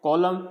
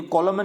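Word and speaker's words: column: डैम एम एन साथ में आ रहे हैं, कॉलम एम एन साथ में आ रहे हैं, तो यहाँ पे आपको एन को नहीं प्रोनाउंस करना है, तो इसको पढ़ना है ऑटम डैम कॉलम, यानी कॉलमन नहीं पढ़ना, ऑटमन नहीं पढ़ना, डैमन नहीं पढ़ना,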